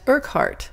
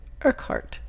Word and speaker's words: Urquhart: Pronounced Urquhart. Oh, it looked harder than that. Urquhart.